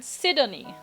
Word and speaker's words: Sidonie: I would rather just say Sydney, but I feel, all the vowels are in there, so it's probably meant to be all pronounced. Sidonie. Like all the vowels pronounced, so Sidonie.